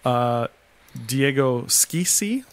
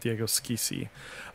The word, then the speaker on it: Schissi: The SCH, though, in Spanish, I don't think you really see. You see it more in, like, Italian or German, and in German it's a sh sound, mm-hmm. and in Italian it's a sk sound. So I'm going to go with Diego Schissi.